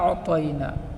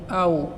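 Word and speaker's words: أَعْطَيْنَا: এখানে শব্দটি হলো ইন্না আ'তাইনাকা, কিন্তু আমরা পড়ি ইন্না আ'তাইনা, এভাবে পড়ি। কিন্তু এখানে শব্দটি হচ্ছে ইন্না আ'তাইনা, অর্থাৎ আইনটি স্পষ্ট হবে, কিন্তু আমরা পড়ি আউ, অর্থাৎ হামজা দিয়ে পড়ি।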